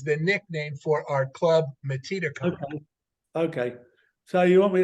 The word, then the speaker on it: Metedeconk: The name is Metedeconk. Think of it like Native American. Metedeconk. Here's how it's spelled: METEDECONK. Metedeconk.